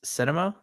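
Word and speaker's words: Sinema: Not only did he get basically outmaneuvered by Joe Manchin and is it Cinema? Is that how you say it? Cinema.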